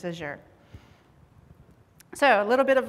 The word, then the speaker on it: Azure: or Azure I guess where I'm from I'll say Azure but it could be I think the official pronunciation is aure so a little bit